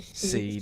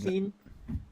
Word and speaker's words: Sean: I have a problem with Sean when it's spelled Sean. I keep saying Seen. Sean.